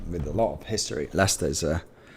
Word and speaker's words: Leicester: about long positions um good to hear you pronounce Leicester correctly of course of course great football team as well I am with a lot of history Lester's uh it's had a great year as well